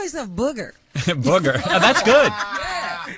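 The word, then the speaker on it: Bougher: I think his name is Booger because his last name is B O U G H E R.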